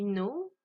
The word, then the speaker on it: know: Donc ce qui nous donne I know, you know, he, she, it knows, we know, they know. Donc là, important à savoir, le K est une lettre muette, le S ne l'est pas.